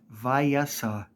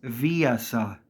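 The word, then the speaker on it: Viessa: to say it is not Vasa it is Vasa it is said so many times throughout this game and people still say Vasa moving on this one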